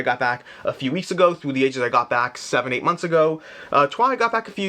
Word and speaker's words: Troyes: Trois, or Troyes, Trois. It looks like Troyes. I always say Trois because I think that's the correct pronunciation, but then people don't